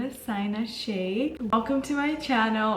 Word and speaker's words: Sayna: So the way you pronounce my name is actually Sayna.